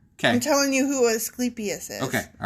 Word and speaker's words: Asclepius: god he was did you look after this pronunciation correctly yes i looked it up and it is asclepius just curious yeah so if i'm saying it